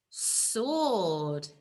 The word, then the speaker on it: sword: so s or d sword okay and we've got a naughty sound here haven't we because we don't say so ord sward we don't say it at all it's a silent letter isn't it okay next moving on